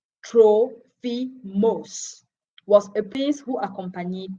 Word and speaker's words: Trophimus: say trophies trophy must worst name is pronounced in greek troll fi moss was a peace who